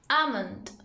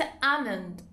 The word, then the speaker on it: almond: Almonds. بادام درختی رو هم میتونید به صورت almond تلفظ کنید، هم میتونید به صورت almond تلفظ کنید.